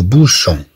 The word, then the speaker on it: bouchon: عندنا او اي تنطق او كما راينا هنا بو شون.